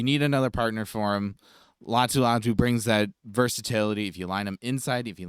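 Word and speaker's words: Laiatu Latu: name and last name correct that's how they pronounce it latu latu okay so the reason I have him going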